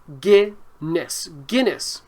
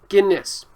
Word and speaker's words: Guinness: is called guinness so it's spelled with gui but it's pronounced guinness guiness and guinness is a really dark